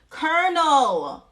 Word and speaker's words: colonel: and correct it one second let's look at pronunciation okay colonel call see look I'm saying it Ron still Colonel oh my God okay so it says that